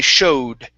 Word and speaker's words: showed: instead of sh okay this o w is only going to be an o sound so when I showed when I showed it